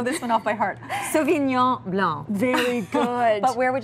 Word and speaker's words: Sauvignon Blanc: That's pretty even, actually. And the only mistake we tend to make with this one is saying Sauvignon Blanc. You don't have to pronounce that last C.